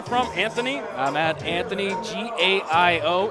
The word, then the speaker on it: Gaio: I'm at Anthony, G-A-I-O. It is pronounced Gaio. Gaio. A lot of people get it wrong, but Gaio it is.